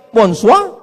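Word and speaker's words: bonsoir: Emangnya bahasa Perancis mudah tulisannya bon jowur. Bacanya bonjo, bon soir, bonsa.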